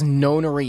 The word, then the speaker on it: nonary: seven virginias i see so then nona means nine so i guess nonori is the correct way to pronounce it lotus nodded how many